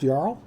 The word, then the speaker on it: Jarl: yarl or cyber Jarl I would always say Jarl but it's probably actually pronounced yl thanks guys and welcome